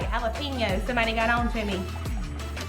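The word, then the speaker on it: jalapeños: Hey, I said it right, jalapenos.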